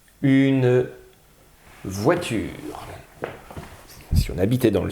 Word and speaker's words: voiture: Wa, je vous ai donné la solution en vous disant que c'était OI qui faisait le son Wa. Voit, c'est le T. Voiture, un U. Voiture, le son R, c'est le R. Et il y a un E muet à la fin de la phrase.